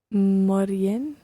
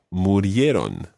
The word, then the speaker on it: murieron: Morían? Is that how you say it? Not quite. The verb is morir, and it would be he died, murió. So they died would be Morían? murieron.